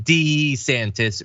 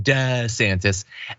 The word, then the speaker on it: DeSantis: that people call him D santis rather than da santis actually I like duh better a nicer flow so I am happy